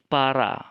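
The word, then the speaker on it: παρά: Harap diingat ya, yang huruf seperti P itu dalam kata para itu bukan P tapi R, ro.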